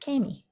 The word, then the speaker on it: Kami: I'm like, you know, you get a cameo in a film. Cut the O off. Oh, comedy. Cammy.